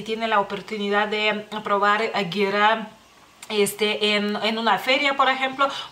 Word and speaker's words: gira: de uno, digamos así, y es Gira, que para ustedes pareciera que es gira, digamos así, se escribe igual, pero es Gira, y es una bebida